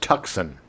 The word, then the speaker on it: Tucson: Uh sadly, he died after a brief illness in Tucson, Arizona, on August 4th, 2024, at the age of 85. That's so sad. It's pronounced Tucson.